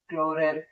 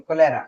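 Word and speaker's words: cholera: Vibrio में एक काफी कॉमन एग्जांपल आता है, आपने एक बीमारी का नाम सुना होगा, क्लोरेल कोलेरा, सॉरी कोलेरा, क्लोरेला नहीं, कोरेला, कोलेरा। मैं नाम लिख देता हूँ, प्रोनाउंसिएशन में थोड़ी प्रॉब्लम हो रही है।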